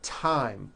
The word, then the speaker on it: thyme: Although these next words and names are spelled with a TH, they are pronounced as if they were spelled with a normal T, like that.